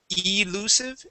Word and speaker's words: elusive: Um but the uh the the I there at the very beginning instead of elusive it is ill.